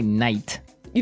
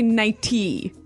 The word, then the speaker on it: nighty: But you don't say night. You don't say nighty. You say nighty. Yeah, you make the T a D.